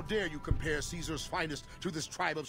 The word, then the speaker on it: Caesar: someone's dead interesting that this seems to be the only Caesar guy who doesn't produce pronounce it Kaiser yeah it's really weird he he was he had a weird name and he pronounced it Caesar and like it's got